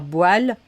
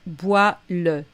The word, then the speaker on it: bois-le: Et puis, pareil, quand on est à l'impératif, on ne va pas dire boile, mais bois-le, dis-le.